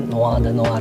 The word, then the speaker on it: Noir de Noir: Ini adalah yang Tom Ford Noir de Noir gitu, tulisannya Tom Ford Noir de Noir, dibacanya Noir de Noir ya, baru belajar juga nih bacanya gitu ya.